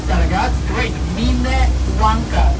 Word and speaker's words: Minnewanka: Minnewanka. That's the proper pronunciation, not the mini.